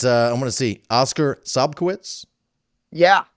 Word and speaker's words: Sobkowicz: I'm going to see Oscar Sobkowicz. Yeah. Did I say it right? Yep, Sobkowicz.